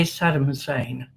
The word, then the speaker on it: Saddam Hussein: We we would say Saddam Hussein.